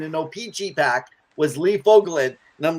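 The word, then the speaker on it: Fogolin: man yeah and Lee uh how do you pronounce his last name foglin man fogelin come on actually it's funny fogelin so when the Oilers came into Edmonton as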